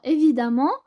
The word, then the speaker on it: évidemment: Donc, on ajoute ment, mon, redoutable, redoutablement, ou bien aimant, évidemment, évident, pardon, évidemment, ça se prononce amant, donc évident.